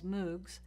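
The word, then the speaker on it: MMOG: massively multiplayer online games which i'll pronounce as moogs and massively multiplayer online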